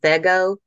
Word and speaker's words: Vego: The steel beds that I have gone with are from a company out of Houston called Vego. It's VEGO. It rhymes with Lego, although we say Lego.